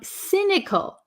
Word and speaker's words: cynical: egotistical okay so um cynical cynical um it has a c y s this is not a hard C but a soft C it sounds like an S cynical cynical so if